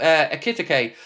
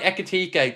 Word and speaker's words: Ekitike: So, let's talk a little bit about Akitake because Connor knew I mispronounced that one by the way. Akitake. I think that one's right, isn't it? Uh, echet. There we go. I've got it right. Echique.